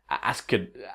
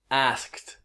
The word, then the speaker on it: asked: Step 2 is add the sound of a T. Asked.